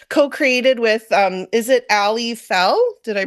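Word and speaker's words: Aly Fell: deck that you co-created with um is it Ali Fel did I pronounce that right yeah you did we each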